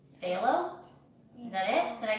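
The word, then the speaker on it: Phthalo: It's like halo with a PH, so. Phalo?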